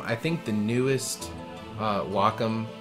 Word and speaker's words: Wacom: Um I think the newest uh Wacom or Waycom, however you want to pronounce it. I believe it's Wacom though, Cintiq Companions can do that, but I don't believe the Surface can.